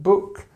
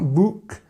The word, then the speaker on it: book: the most this word book this uh sound it's not book it's not bck it's book okay you can also have